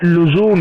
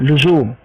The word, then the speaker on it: لزوم: اسی طرح سے انہوں نے جیسے یہاں لکھا لزوم، غلط تلفظ ہے یہ، لزوم غلط لفظ ہے، اصل میں لزوم ہے، لزوم لزوم. تو اسی طرح سے انہوں